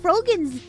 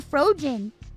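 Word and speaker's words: Froggen: Like, they pronounced Frogan's name. They mispronounced Frogan's name. They kept calling her Frogen.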